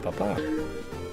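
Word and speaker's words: papá: So the difference is, papa is with the emphasis on the second A, the second syllable, means like dad, right? Like papa.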